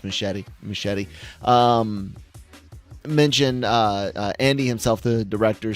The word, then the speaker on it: Muschietti: The director and producer spouse, the Muschietti, however you pronounce it, I think it's just Muschietti.